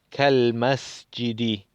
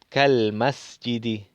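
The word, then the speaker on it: كالمسجد: Hadihil madrasatu kal, no se lee el alef, vamos directamente al lam, kal masjidi, kal masjidi. Entonces no leemos el alef en forma de lectura, pero el kaf, como es harfuyar, ¿no?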